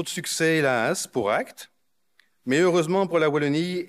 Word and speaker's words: AKT: à pourvoir dépêchez-vous et prononcez bien acte pas acaté je mets à la